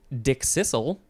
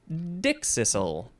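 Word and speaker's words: dickcissel: the next word is you can pronounce this either dick Sizzle or dick Sizzle you can emphasize either the first or the second syllables it is spelled d-i-c-k-c-i-s-s-e-l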